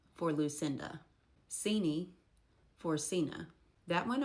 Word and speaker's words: Lucinda: Lucindy for Lucinda.